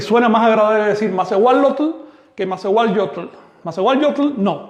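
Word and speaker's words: -lotl: Esta y se contamina con la l, así que eso se pronuncia lotl.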